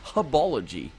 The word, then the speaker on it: Hubology: It's Hubology. There we go. It's because of the H.